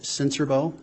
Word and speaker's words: Sincerbeaux: spell your last name my name is sensorbo and my last name is spelled s-i-n-c-e-r-b-e-a-u-x sir how are you employed um